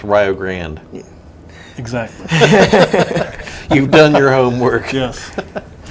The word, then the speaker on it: Rio Grande: Just like if you interviewed here, it would be good to know that it's pronounced Rio Grande.